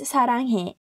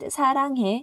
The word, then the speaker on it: 사랑해: It sounds similar to the English alphabet S, but it is slightly lighter than S. Relatively, the S of the sun, see, so is pronounced closer to the double syllable 쌍시옷, and the word of this is 사랑해.